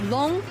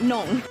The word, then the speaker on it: 弄: a bit confusing because this character can also be pronounced nong. So just keep in mind it's long, not nong.